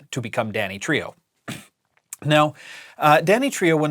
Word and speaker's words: Danitrio: the correct pronunciation because the company used to be known just as Dany um they added the trio later on to become Danny Trio now uh Danny Trio